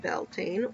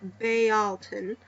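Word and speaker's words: Beltane: make room for spring belan pronounced belan or Balon uh also known as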